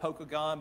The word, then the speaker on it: Pokagon: It's spelled Pokagon, but all the locals call it Pokagon.